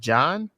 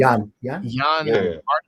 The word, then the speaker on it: Jann: I think it's pronounced John or Jann. Jann.